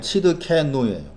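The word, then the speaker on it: צדקנו: 우리의 의란 단어가 이제 발음하면 치드케누예요.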